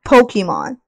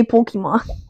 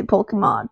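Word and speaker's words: Pokémon: big which stand for Pokemon that's not how you say Pokemon that this is how you say Pokemon Pokemon okay come on we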